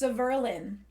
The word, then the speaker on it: Severlin: His name is pronounced Severlin.